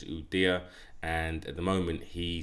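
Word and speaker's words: Ueda: I think he pronounces his name as Udia, and at the moment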